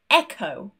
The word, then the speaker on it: echo: There are quite a few situations where the H is also silent. For example, CH, such as chemistry, Christmas, echo, or when we have RH next to each other, rhythm, rhino.